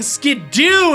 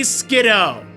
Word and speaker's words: Skiddo: call you kiddo, so let's call this thing Skidoo instead of Skiddo. Oh, I hate that. I'm not gonna lie, like, that's one of the pronunciations that I despise. It just drives me crazy, okay? It should be Skiddo.